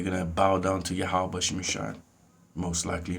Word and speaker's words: Yahweh: There's no J in the Hebrew. Or V's either. It'll be pronounced Yahweh.